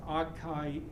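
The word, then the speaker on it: Akaike: Sometimes people will pronounce this as, it's Japanese, akayeki, something like that. Anyway, most people will still pronounce that keiki, even though it's a mispronunciation.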